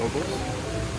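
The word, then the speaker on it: Ogle's: granny ogles granny ogles I always pronounce it OES and actually it's ogles so it's actually um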